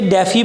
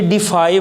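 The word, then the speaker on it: defy: इसको कई बच्चे डेफी पढ़ते हैं, डेफी गलत प्रोनाउंसिएशन है। ये डिफाई वर्ड है।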